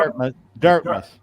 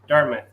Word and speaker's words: Dartmouth: Dartmouth. Dartmouth.